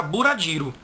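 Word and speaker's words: ブラジル: Isso aí, para o japonês, vai ter 2 sílabas. E ele vai colocar um U depois do B. Vai ficar bura. É tanto que Brasil, eles não vão ler assim, bra. Eles vão ler bura.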